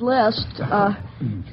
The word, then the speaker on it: Liszt: Well, I'll start off with Franz Liszt. Say, I'm going to the grocer to see how he's doing in preparing my grocery list. List, Of course, that's spelled L-I-S-T, and the composer is L-I-S-Z-T.